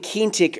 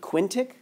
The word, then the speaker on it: quintic: how to say it I was saying keen tick earlier but someone sent made it sound that about Quinn quintic so whatever cranks retractor